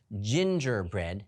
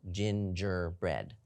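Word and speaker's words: gingerbread: call a hard g ginger bread happens to be a word that has both soft g's which gives us a j sound at both spots it appears ginger bread how about the g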